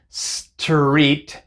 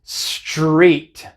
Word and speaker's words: street: Es un poco más complicado porque viene después de una S, pero no decimos street, street con la T, sino que decimos street, street con la CH, street.